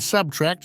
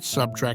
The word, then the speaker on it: subtract: nuclear not nucle and subtract not subtrack as he scolded her